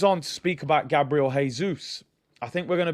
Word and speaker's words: Jesus: now reports coming out jesus wants or jesus as i've been told um to pronounce wants around a hundred